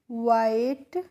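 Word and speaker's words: white: सी the rabbit was डब्ल्यू एच आई टी ई वाइट देखिए जब भी किसी स्पेलिंग के लास्ट में बच्चों इ आता है तो उसका प्रोनाउंसिएशन हम नहीं करते हैं। आपने यहां पे भी देखा होगा लिटिल में भी हमारा लास्ट में इ आया था तो हमने लिटिल ए नहीं पढ़ा था इसको लिटिल पढ़ा था टी एच ई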